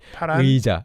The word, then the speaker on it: 파란 의자: 파란 의자를 I didn't even pronounce that correctly. 파란 의자. I said 의자.